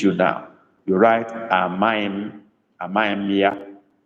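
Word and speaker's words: amaghịm: You write Amaim, Amaimia. Amaim is spelled Amaghi with dot under the I, then followed by M, Amaim or Amaimia.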